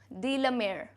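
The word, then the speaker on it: Walter de la Mare: आता है ना, तो इसको क्या बोलोगे, डीला, डी लमेयर, एक साथ बोल देना. वॉल्टर अलग से बोलोगे और जैसे मान लो ये पूरा ही सरनेम है तो कैसे बोलोगे, डीला मेयर.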